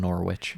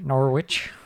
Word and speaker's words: Norwich: I see one team with a massive dub, and that's a team that you don't pronounce the W. I call them Norwich. Norwich.